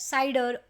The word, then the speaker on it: CIDR: So today I'm going to discuss about CR or someone people also call it cider but I used to pronounce C that is a networking concept in AWS but that is the most underrated topic.